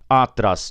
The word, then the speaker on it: atrás: Você não fala, eu parei o carro atrás do poste, atrás do poste, atrás do muro. Não. Eu falo atrás, atrás.